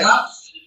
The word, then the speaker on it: Kaf: So you have the cough with a dot, so it is a K sound, not a CH sound.